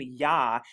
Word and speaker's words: Yah: But as you see, and you'll see in the KJV today, that instead of I-A-H, it's spelled J-A-H. But like I said, it's pronounced Y-A-H, or Yah, or Yahuwah.